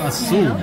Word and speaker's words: Aseel: Aseel.